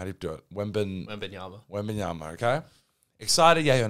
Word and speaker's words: Wembanyama: I'm not going to try and pronounce his name. How do you do it? Wembanyama.